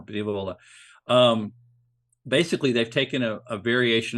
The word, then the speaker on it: Diavola: Pizza Ponte came out with a Pizza Diavola, and I need to emphasize the last syllable more. Diavola.